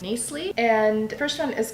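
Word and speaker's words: Knisley: did they're by Lucy I think is pronounced nice Lee and first one is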